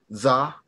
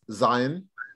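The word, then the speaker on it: זין: Okay, so Zion, you would say in the traditional, you would say Za. Yeah. Okay, but it's Zion in modern right now.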